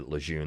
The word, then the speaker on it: Lejeune: on uh john lejeune it depends on where you uh how you would say his name i've always said lejeune there's other people who say it's different but lejeune was the